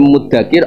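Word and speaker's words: مدكر: Namun yang berarti 'mengingat' adalah 'dzal', ' dzakara', jadi 'fahal min muddakir', adakah yang menerima pengingat itu? Yang artinya 'ingat' adalah 'dzal ', 'dzakara' artinya ingat, tetapi Nabi membacanya dengan 'dal'.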